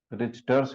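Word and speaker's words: Richter: में रिचर्स ह रिचर्स हरनिया है टी साइलेंट रहता है रिचर्स ही उसको बोलते हैं और यह जैसे गट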